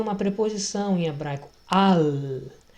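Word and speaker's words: עַל: Al. O L em hebraico se pronuncia como no espanhol. Você dobra a língua para o alto e faz essa sonoridade do L.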